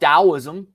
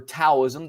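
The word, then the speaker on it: Taoism: tradition a different philosophy called dosm or taism depending on if you pronounce it with a t or a d that has the heart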